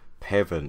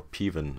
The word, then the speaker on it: Peven: And so we find out that Morgan has, in his past, retrieved a crown from Peven or Peven of Aum, that's how I pronounce it, in a daring riddle game, which is a matter of life and death.